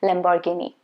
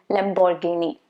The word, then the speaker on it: Lamborghini: This one is common, and I'm sure most of you already know the correct pronunciation. It's supposed to be Lamborghini. Lamborghini.